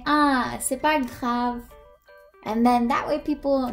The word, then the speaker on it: c'est pas grave: The way you're gonna pronounce this is, c'est pas grave.